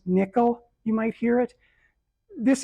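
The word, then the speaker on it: NCCL: It's pronounced nickel.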